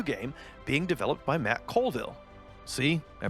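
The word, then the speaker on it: Colville: a completely new game being developed by Matt cville see I pronounced his name right this time check out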